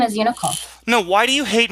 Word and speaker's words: Unicole: You're Nicole. Aren't you, Nicole? Unicole. You're saying it wrong.